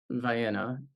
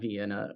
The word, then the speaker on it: Vienna: thought that was how Ohioans would end up, pronouncing Newfoundland. The same way we have a nearby town that we call Vienna, and not Vienna, or the camel, but it looks like Campbell in Yep.